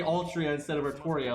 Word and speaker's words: Artoria: the nail in the coffin is the actually pronounced it artoria so i'm like you know